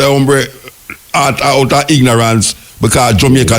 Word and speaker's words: hombre: When you see the H, you don't pronounce at all. Okay. See, me not know something at all. That's why I like when you say H-O-M-B-R-E, you say hombre, you say hombre, you say hombre.